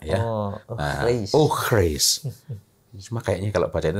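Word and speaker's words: eau fraîche: Eau fraise. Itu tulisannya gimana itu? Eau. Oh, eau. Frai. C. Oh, C-H-E. C-H-E. Ya. F-R-A-I-C-H-E.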